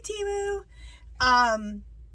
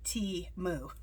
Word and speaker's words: Temu: Thank you, Temu. And that's something I want to say. How you pronounce it.